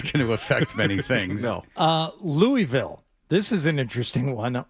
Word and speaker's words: Louisville: Louisville. This is an interesting one, or Louisville, as it is pronounced.